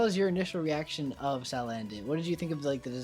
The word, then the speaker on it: Salandit: Salandit. Salandit. I have trouble with pronouncing it just because like I want to say sand, like I want to put sand in there because it's like a salamander, but like I don't know why.